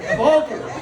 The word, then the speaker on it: Walter: Now, in German, Walter is pronounced Valer.